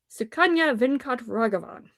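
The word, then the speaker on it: Sukanya Venkatraghavan: Thank God you said that because I was going to butcher the hell out of that name. Stories edited by Sukanya Venkat Raghavan.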